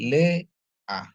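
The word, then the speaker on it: לֵאָה: Sere dia jadi bacanya Le ada Al yang silent dikasih dengan eh nikut kamat dia jadi a ya jadi bacanya jadi Le A jadi bacanya Lea artinya Lea ya istri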